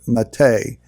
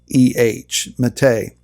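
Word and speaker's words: matteh: rod rod of authority is the word mate if you want to transliterate that into English you could probably spell it m-a-t-t-e-h mate it was interesting about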